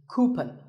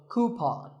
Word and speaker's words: coupon: of these of a common incorrect pronunciation is cupen but the second syllable should be pawn so coupon here's word number 16